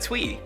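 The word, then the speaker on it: Thuy: a friend whose name is spelled t hu Y and when I first met her she said twe just like Tweety Bird and I never forgot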